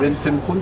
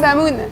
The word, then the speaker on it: Bensemoun: Ben Semkhoun, comment on prononce? Ben Samoun.